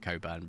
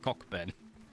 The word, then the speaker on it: Cockburn: always been the same but why is it Coburn because it's not spelled like Coburn uh cuz you know it's French no no no no no the French wouldn't pronounce that Co Coban they pronounce it cockburn so what what do you mean it's french